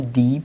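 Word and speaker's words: the: लेकिन कोई भी वर्ड अगर यदि वॉवेल से शुरू होता हो, कोई भी वर्ड अगर यदि वॉवेल से शुरू होता हो तो उसको हम दी पढ़ेंगे, क्या पढ़ेंगे, दी।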